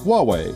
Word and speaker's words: Huawei: whoo-hooooo I wait Wow Bobby Bobby the correct pronunciation is Huawei guess Bootsy guess for this cat to the